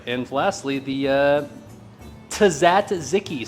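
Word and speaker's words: tzatziki: And lastly, the uh Tazatziki sauce, or so I've been told that's how it's pronounced.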